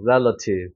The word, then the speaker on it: relative: 수화 발음 약해지니까 relative가 되는 거죠. relative.